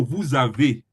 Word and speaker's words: vous avez: But if it's on its own, you don't pronounce the S. The S becomes silent S. But if you want to pronounce it with a word that starts with a vowel, that is A, I, O, U. So if you want to pronounce with a vowel, it change the S to Z.